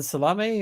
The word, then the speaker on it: Salame: Nishad and Ryan Salame, or did you discuss them with Mr. Salame? He pronounces it Salam, so Mr. Salam.